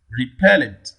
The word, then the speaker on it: repellent: 42 question 42 repellent repellent where does the primary stress fall here on the second syllable pen on the second syllable